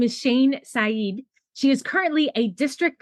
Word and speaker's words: Shane Saeed: Her name is Shane Sed.